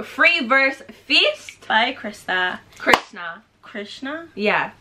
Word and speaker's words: KR$NA: krista krishna krishna yeah last time i said kirsten you guys came with me in the comment section and you were like no it's actually pronounced like curse now i think one of you said it's actually pronounced like krishna and i was like